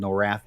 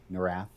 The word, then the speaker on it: Norath: It's called No Wrath After Dark. I just pronounced it wrong. Norath.